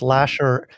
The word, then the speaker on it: Lashar: if you know that my last name is spelled with an AR so it's Lasher l-a-s-h-a-r Lasher you